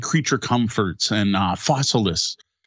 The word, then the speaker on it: Fossilis: like Creature Comforts and Fossilis. I think that's how it's pronounced, like Fossils with IS, Fossilis, I think.